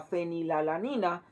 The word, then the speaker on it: fenilalanina: en los chicles la fenilalanina generalmente se escribe así así ph que ni la lámina por nombre latín le quitamos esa pronunciación y le agregamos una efe y hace puesto como fe que ni la alanina